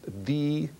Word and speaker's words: the: Now, did you know that the word the should be pronounced the probably in front of a vowel and the in front of a consonant?